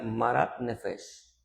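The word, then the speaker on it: מר נפש: Existe una expresión que se pronuncia maratnefes.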